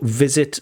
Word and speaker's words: visit: Um also visit is with a v not a w.